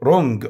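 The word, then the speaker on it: wrong: اويل ماني نقود ماني رونج خطا حرف دبليو سايلنت يكتب ولا ينطق رون اجين مره اخرى ويند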